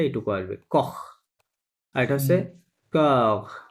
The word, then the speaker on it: corps: সি ও আর only, হ্যাঁ, এই উচ্চারণটা এইটুকু আসবে, কখ। আর এটা হচ্ছে কখ, কি হবে? কখ, Corps. কখ, হ্যাঁ, একটু টেনে বলতে হবে, হ্যাঁ, কখ, কখ।